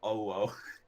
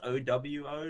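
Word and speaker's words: OwO: are non-weeb speaking, and they thought it was pronounced oh, whoa. So they were like, what does oh, whoa mean? So then I was like, it's pronounced O-W-O, like you sped it out, but we're going to keep with the meme of O-wo.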